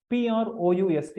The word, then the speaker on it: Proust: title for martial proust p r o u s t it's pronounced Marshall proust a famous French novelist